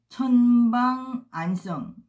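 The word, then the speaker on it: 陳方安生: 그 다음에 천방안성, 이분은 진방안생이라고 하는데요.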